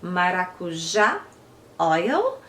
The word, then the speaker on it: maracujá: So tart, it came like, I'm gonna pronounce in Portuguese from Brazil, so we pronounce maracujá oil.